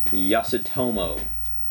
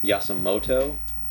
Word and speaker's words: Yasutomo: Alright, and last up is the Yasutomo traditional Chinese ink. I think I'm pronouncing that right. I realized earlier today that I thought it was Yasumoto. That's definitely not it.